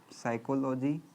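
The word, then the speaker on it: psychology: पी से, एस से? पी से, पी साइलेंट हो जाएगा। साइकोलॉजी। फिलोसफी का नाम सुने हैं?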